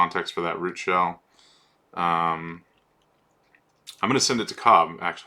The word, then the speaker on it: 5hell: five shell no parameters I'm sorry shell not it's pronounced shell but since it starts with a five I often think of it as five hell or five shell in my head so um okay so